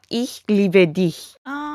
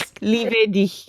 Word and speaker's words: Ich liebe dich: Ich liebe dich. Did I say it right? Yes. Ich liebe dich.